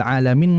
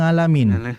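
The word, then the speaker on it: العالمين: Ya, maka dijelaskan huruf ain jangan sampai seperti alhamdulillah rabbil alamin ngalamin.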